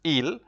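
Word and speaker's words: ils: so this day masculine which is ill the S is not pronounced and then you have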